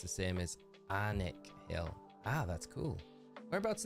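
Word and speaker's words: Alnwick: anik hill alwick hill uh and it's definitely pronounced the same is anic Hill Ah that's cool whereabouts in the country is at Michael that's crazy anic Hill yeah anic it's got the largest secondhand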